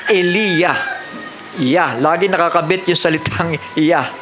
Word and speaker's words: Elijah: Patunay na ang Diyos ni Elijah, English ay Elijah, pero sa tamang pagbigkas ay Eliya.